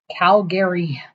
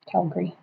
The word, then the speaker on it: Calgary: Calgary. Calgary. There's only one R. Calgary. It's not E. I know, but it's G A R Y.